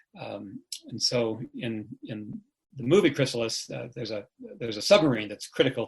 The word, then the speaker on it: Chrysalis: Chrysalis, yes.